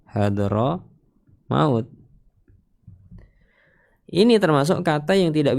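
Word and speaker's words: حضرموت: Hadar maut nama kota hadr maut kita bacanya hadro maut.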